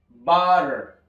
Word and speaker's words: butter: Es butter, butter. Y vean cómo esta doble T pasa a ser una R.